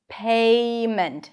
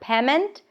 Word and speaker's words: payment: Say Now let's practice this dip thong when there is another syllable in the word payment. Payment. Not payment. Payment. Pay. A. Now notice that it's not two separate syllables. It's not payment. The word has two syllables.